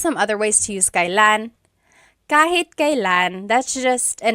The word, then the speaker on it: kailan: Kailan nangyari yun? Nangyari means happened, and then yun means that. Kailan nangyari yun? And then just a pronunciation tip, it's pronounced kailan, kailan, but you will often hear it pronounced kailan, kailan.